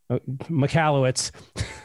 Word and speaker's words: Michalowicz: is a book that came out by mike michalowicz um that way i i'm probably mispronouncing that because you said it's michalowicz there you go that is an absolutely revolutionary